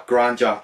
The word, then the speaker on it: Granja: I've heard it pronounced more like an H, like a granja. But I just say La Granja because it's a J.